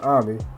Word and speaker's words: Ami: 11-year-old Ami, spelled Amy but it's pronounced Ami, played by Fatia Yusuf, I think that's how you pronounce her name, who is 14 in real life.